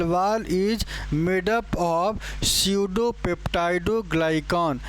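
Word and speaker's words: pseudopeptidoglycan: यहां पे पी जो आप देख रहे हैं पी पूरी तरीके से साइलेंट हो जाता है। क्या हो जाता है? पी पूरी तरीके से साइलेंट हो जाता है। इस वजह से इसे सडोप्टाइडोग्लाइकॉन या सडो म्यूरिन के नाम से जानते हैं।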